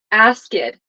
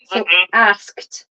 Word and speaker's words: asked: over and over so I heard you say ask it and it's not ask it it's to asked can you say that